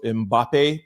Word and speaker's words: Mbappé: I Googled it and this is what it said. So, Mbappe, but y'all know I'm dyslexic, so excuse me if I'm pronouncing it wrong.